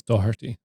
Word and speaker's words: Doherty: There's no C in it. It's Doherty.